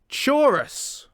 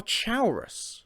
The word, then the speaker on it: Chaurus: start with this one chorus or chaurus depending on who's pronouncing it i personally prefer chorus i say chorus in my head and i believe lucian says it too although i can't think